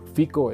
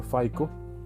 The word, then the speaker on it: FICO: En los primeros 2 episodios hemos hablado de un sistema que se llama, bueno, yo lo pronuncio más bien en español, el FICO, en español sería, en inglés sería FICO, ¿verdad?